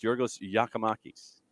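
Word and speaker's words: Giorgos Giakoumakis: He's Yorgos. And so, so AT&T has once again is reminding us in a very subtle way about how to pronounce Yorgos Yakimakis, and looking forward to it.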